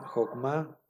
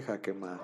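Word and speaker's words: חָכְמָה: Esta palabra Jokma, Jokma, esta palabra sí va a cumplir con la regla. Aquí nosotros a lo mejor podríamos decir, bueno, dice Jokma o dice Jakema.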